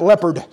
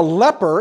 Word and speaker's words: leper: And I have to be very careful because I have a tendency to pronounce that leopard, and that's the wrong thing, but there's still spots involved, all right? It's a leper.